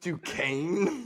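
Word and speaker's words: Duquesne: know it's pronounced Duan the S is it's pronounced Duane yes and so their nickname is the dookies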